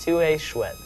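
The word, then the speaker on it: tu es chouette: It's pronounced TUE CHOUETTE.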